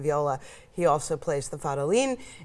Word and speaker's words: Fadolin: Yes, Fadolin. It's a brand new instrument, so it's okay not to know how to pronounce it.